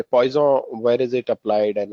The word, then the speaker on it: Poisson: You generally pronounce Poisson, you don't read it as poison. Um, French generally eat away their last word for some reason, right? So you'll see, though they write a last word, but they don't pronounce it, right? So poison, it stops at O.